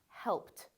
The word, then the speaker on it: helped: So this word looks like it should be helped, right? But it's not. It's actually pronounced helped. Do you see how the final ED has a T sound?